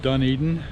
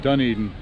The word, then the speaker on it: Dunedin: the little town of dunedin it's spelled like dunadine from the uh lord of the rings but anyway dunedin um lots of little